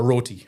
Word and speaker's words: roti: So a roti, roti. R-O-T-I. Yes.